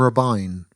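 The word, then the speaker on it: Robyn: have borrowed some from rubine oh oh by the way um rubine is how you pronounce the name r-b-y-n um if your name is spell oribi i n you're allowed to call yourself Robin yeah Robin I think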